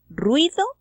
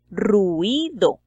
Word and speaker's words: ruido: Esta palabra tiene 2 sílabas. Probablemente el poeta quiere que se pronuncie en 3, entonces hace uso de la diéresis y en lugar de decir ruido, diríamos ruido, teniendo entonces una palabra de 3 sílabas.